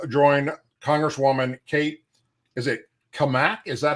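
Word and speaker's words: Cammack: Is it Kamak? Is that how she pronounces that? I don't want to get that wrong. Kamek, Cat Kamak.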